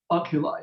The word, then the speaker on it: oculi: Oculi, yeah.